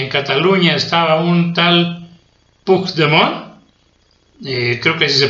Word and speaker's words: Puigdemont: Cataluña estaba un tal Puigdemont, creo que así se pronuncia, espero haberlo pronunciado bien, no sé catalán, es Puig, que se escribe Puig, Puigdemont, y entonces allá en Cataluña